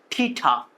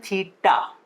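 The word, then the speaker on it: theta: ठीठा, ठीठा, ऐसे पढ़ते हैं कितने बच्चे? ठीठा, ठीठा, नॉट pronunciation is correct, okay, this is not correct pronunciation। सही pronunciation है थीटा।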